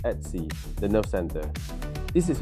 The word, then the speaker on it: etc: etc. Pronounced at C, the nerve center.